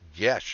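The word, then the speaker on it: geas: dm has no story pronounced yesh according to g-e-a-s all right never heard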